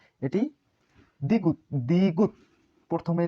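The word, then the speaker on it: 디귿: এটি দ্বিগুত, দ্বিগুত। প্রথমে থ, মাঝে দ, নিচে ত উচ্চারিত হয়। এটি রিউল, এটির উচ্চারণ রিউল।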